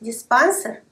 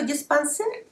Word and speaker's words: диспансер: Говорить «диспансер» неправильно. Слово «диспансер» происходит от французского слова, которое звучит практически так же – «диспансер». А поскольку во французском языке ударение всегда ставится на последний слог, то и запомнить вам будет проще.